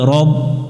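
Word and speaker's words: رب: বা এর সাথে রব এখানে অনেকজনে যে ভুল করি আমরা রা পড়ি এটা এটাতে জবরে আকার পড়া যাবে না যেই অক্ষরগুলো জবরে আকার পড়া যায় না যেমন রং বাংলা অক্ষর আছে পাশে যদি আমরা আকার দেই তাহলে রা হয়ে যায় এই অক্ষরটাতে রা পড়া যাবে না র পড়তে হবে যে অক্ষরগুলো জবরে আকার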